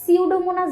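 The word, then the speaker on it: Pseudomonas: এই যে দেখো এখানে এই বানানটা খেয়াল রাখা লাগবে যে সিউডোমোনাস আমি উচ্চারণ করতেছি কিন্তু সামনে দিয়ে কিন্তু একটা সাইলেন্ট পি আছে। এই বানানটা যখন লিখতে যাবা তখন কিন্তু এই পিটা খেয়াল করে দিতে হবে। দেখো পি দিয়ে তারপর সিউডোমোনাস সাইলেন্ট একটা পি থাকবে।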